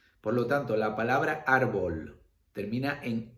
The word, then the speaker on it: árbol: ¿Dónde llevaría la tilde? En la vocal de la sílaba penúltima, ¿vale? Árbol, en la A, tilde.